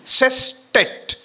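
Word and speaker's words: sestet: Octave is easy for us to pronounce. But the next one s e s t e t cet. If you don't practice in a right way, you make it pulkate. Instead of saying, you say pulkate.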